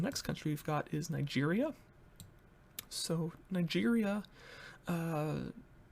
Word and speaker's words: Niger: that we've got is niger and that's the way you're supposed to pronounce it because their official language is french and um i